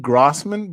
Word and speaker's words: Grossman: Now I'm saying Grossman, but the way it's spelled is like gross.